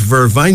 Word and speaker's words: vervain: Vervain, Vervain, pronounced as vervain. Jamaicans call it vervine.